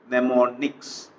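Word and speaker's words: mnemonics: by symbolic codes called nemonics. Memonics. So here M is silent pneummonics to improve their understanding.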